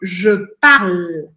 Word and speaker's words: je parle: No caso, eu falo je parle, je parle. E aí eu vou parar nesse L.